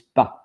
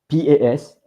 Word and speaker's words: pas: It's pronounced pas, and I'm going right now to set the pronunciation with that, so that you know how. But you heard from me, but pas, Pas. Pas. Pas. Pas. So it's pas.